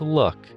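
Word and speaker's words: Lugh: If that name doesn't ring any bells for you, keep in mind that Luff is sometimes pronounced Luck, as in the luck of the Irish.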